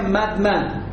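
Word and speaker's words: מחמד: La palabra se pronuncia Madmad. Madmad, Madmad.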